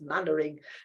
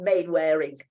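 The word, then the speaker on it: Mainwaring: names I probably remember Captain mannering saved Mandarin is not rainwearing it's mannering in the in Dad's Army it's mannering it's not made wearing why isn't it men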